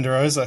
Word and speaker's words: De Rosa: Is that how I pronounce De Rosa? That is De Rosa, correct.